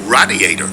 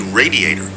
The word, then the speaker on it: radiator: like in Fab like radiator radiator radiator if it's in a car I pronce with a long a sound like in fade radiator my family makes fun